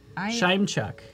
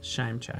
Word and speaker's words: Panczyszyn: God, I remember when I Scheimchuck is what Merrick says. Scheimchuck. Scheimchuck.